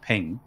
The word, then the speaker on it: PNG: Maybe it was a PNG, which I believe is pronounced ping.